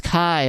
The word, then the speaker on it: Kai: a Kai oh it's Kai okay got it that's how you say it's Kai got it um yeah I didn't